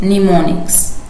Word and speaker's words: mnemonic: source speech what is mnemonics a mnemonic is the first m is not pronounced device or memory device